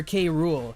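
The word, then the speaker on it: K. Rool: The letter said it meant the world to see the love for K Rule.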